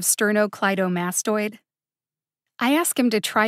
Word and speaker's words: sternocleidomastoid: page that i'm on sterno cledio mastodon he says instead of sternocleidomastoid i ask him to